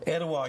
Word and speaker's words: Etowah: Etowah, you said it right.